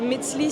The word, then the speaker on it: Metzli: Alors tu me parlais tout à l'heure de Metzli, est-ce que je le prononce bien? Oui, Metzli.